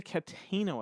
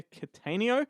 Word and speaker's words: Cattaneo: Fleming's in that one that's directed by Peter Cuttino I think that's how you call it say his name Peter Cattaneo he's the guy that made the full monty